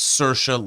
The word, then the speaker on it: Saoirse: on late night talk shows and she said, "My name's Saoirse like inertia." And once Like I heard that, inertia.